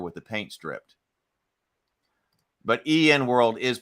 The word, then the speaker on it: EN World: But EN World is pronounced, okay, so I think I'd said N World.